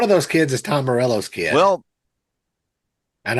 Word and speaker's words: Morello: that's pronounced Morello. I don't care. Morello. It's like I'm reading this going, that is Morello right there.